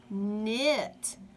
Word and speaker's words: knit: her chair doing this remember the K is silent mmm it knit now let's read the